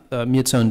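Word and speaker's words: Myitsone: in Myanmar or Burma is it the myates Oni or how do you say that huh mutes own dam mute sound okay so as Human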